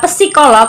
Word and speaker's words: psikolog: Kalau baca psikolog itu P-nya nggak ada. Jadi psikolog. Nah ya kayak psikologi.